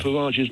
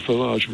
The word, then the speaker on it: Farage: The pronunciation of Farage's name correct. It's Simon, not Farage, it's Farage.